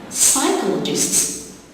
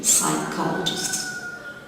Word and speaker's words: psychologists: Psychologists, you got two silent letters, P in the beginning and the H after the C. Psychologists.